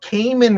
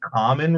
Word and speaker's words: Kamen: He's like, "I love Cayman Ryder." And me being the noob fan that I was, I down to this kid and I'm like actually it's pronounced common rider and my wife has never let